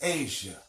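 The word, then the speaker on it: Assiah: there are four worlds the lowest world is called Asiya or a Shia which we pronounce as Asia now what does it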